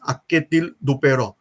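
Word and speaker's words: Anquetil-Duperron: Spelling is something different, but the pronounce of that spelling is Akketil Dupeyron.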